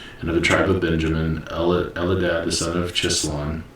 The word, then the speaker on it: Chislon: Elidad the son of Chislon, or Kislon probably, because they pronounce their CH with a K sound.